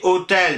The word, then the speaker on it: hôtel: PI est tombé aussi hostal est devenu hostel qu'on a très vite prononcé hôtel mais on continue à écrire le S et en 1740 c'est